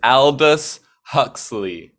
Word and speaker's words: Aldous Huxley: I never know how to pronounce his name. Aldous Adalus Husky. Husky. Yeah, It's Aldous Huxley.